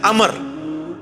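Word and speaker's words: عمرو: love जी गलत है लफ्ज़ उमरू तुमको लब्ज नहीं है लब्ज है अमर लिखा होता है उम्र लेकिन उसका मतलब वो जो है वो साइलेंट होता है और वो का मतलब यह है की आपने इसे पेस की बजे जबर से पढ़ रहे हैं उम्र की विजय पढ़ना है अमर तो हजरत उमर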